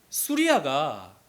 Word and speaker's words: 수리아: 이 Y가 사실 그때 당시에 발음이 지금처럼 이렇게 Y 발음이 아니고 U 발음이었습니다. 그래서 수리아, 당신은 수리아라고 불렀어요.